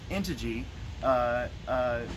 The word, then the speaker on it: Integy: So we have 2 pairs of these fabled unicorn Integy, it's pronounced Integy, sleds, so that you can go in the snow with your paddle tires in the back for your two-wheel drive, okay?